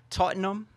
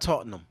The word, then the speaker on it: Tottenham: and Newcastle Wow okay they don't pronounce ham I don't think they say ham huh like cause it's Tottenham